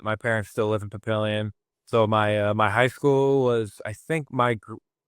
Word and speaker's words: Papillion: Is it pronounced Papillion? Is it Papillion? Yeah, Papillion, yeah. Yep.